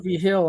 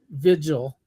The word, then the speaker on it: Vigil: Hill on it, which I say V. Hill, but he says Vigil. Yeah. Yeah, Tim Vigil. I pronounce it like it's New Mexican V. Hill, but that's where I'm from.